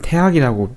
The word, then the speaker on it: 태학: 그러니까 이제 간단히 말하자면 우리가 대학, 사실 이게 태학이라고 우리가 발음을 하죠.